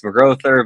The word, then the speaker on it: McGrouther: Did I say it wrong? That was pretty good, honestly. Everyone says it wrong, so it's all good. It's McGrouther, but that was such a good first rip guess that I'm very impressed.